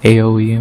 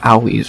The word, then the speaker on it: Aoi: I don't know the way they say it, so I guess it's Aoi, not AOE or whatever.